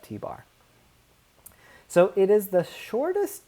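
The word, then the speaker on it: t̄: i pronounce it as t bar so if you ever see a little line on top in mathematics lingo we call that t bar so it is the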